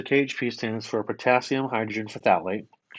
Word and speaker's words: phthalate: Potassium, hydrogen, hydrogen, hydrogen, phthalate.